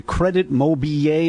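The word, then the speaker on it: Crédit Mobilier: nation was the scandal involving Durant and the Credit Mobilier. Is that the way they Correct.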